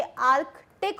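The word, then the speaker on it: Arctic: ये आर्कटिक circle नहीं होता, ये आर्कटिक होता है। सी जो होता है इसमें हम इसको बोलते हैं आर्कटिक सर्कल, तो इसमें सी साइलेंट नहीं होता, ये आर्कटिक बोलेंगे इसको, आर्कटिक।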